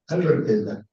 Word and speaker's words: Albertela: ¿Albertela o Albertelia? Albertela. Albertela, lo pronuncié bien aquí.